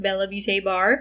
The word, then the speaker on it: BellaBeautéBar: She did confirm it is in fact pronounced BellaBeautéBar.